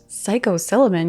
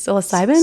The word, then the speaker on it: psilocybin: um psycho Sullivan how do you say it psychosiliman means psilocybin psilocybin yeah I like psychos I'm not a